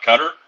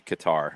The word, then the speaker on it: Qatar: a draw for you uh cutter guitar however you're pronouncing it i apologize either way i think it's supposed to be qatar i think we're it's like guitar either we settled on guitar well i think we